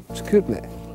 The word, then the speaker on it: Chicoutimi: Chicoutimi.